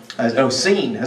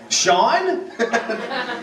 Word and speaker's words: Sean: Scene. So he said, "Scene over there," and I said, "Scene? Sean? S-E-A-N, Dad? Yeah. Oh yeah, I guess that's the way you pronounce that."